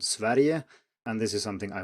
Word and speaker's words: Sverige: And then, of course, Sweden is not what we call the country in Swedish, it's called Sverige, and this is something I will return to later.